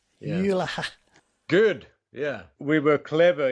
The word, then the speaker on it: Jylhä: Firstly, for us down here, how do we pronounce it? Jylhä. Yeah. Jylhä.